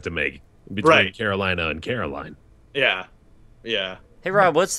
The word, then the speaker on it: Caroline: It's Caroline. It's like you're putting emphasis on like the wrong part of the word for an English speaker.